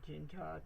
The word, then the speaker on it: jinja: My pronunciation is not quite good, so it's pronounced Ginger, ginger.